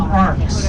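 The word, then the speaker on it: arques: They want you to call them arcs, and they want you to spell that all fancy in Sausalito. A-R-Q-U-E-S, arcs.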